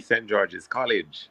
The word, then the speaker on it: St. George's College: Kevin went to an excellent school, and it's not just St. George, to say it properly. He went to the St. George's College.